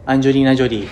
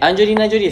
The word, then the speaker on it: Angelina Jolie: Anjolina Jolie. - That's not how you say her name! - Woah, a Hollywood star! So, Angelina Jolie loves watching track and